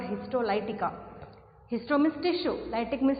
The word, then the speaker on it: histolytica: Some pronounce it as Histolica also, but it is Histolytica.